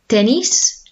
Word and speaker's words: tenis: Okay, and then we have el tenis. So that's obviously tennis, but we should be pronouncing as tenis.